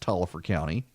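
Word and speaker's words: Taliaferro County: spell of Taliaferro but everyone assures me it's pronounced Tolliver County there is a Crawfordville is a Crawford villain Sharon the towns of Crawford village here and it runs Tolliver County stretches across i-20 on the way towards Greensboro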